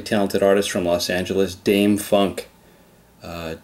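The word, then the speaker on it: Dâm-Funk: artist from Los Angeles Dame Funk uh Dame Funk looks like Dam Funk it is pronounced Dame Funk this machine was the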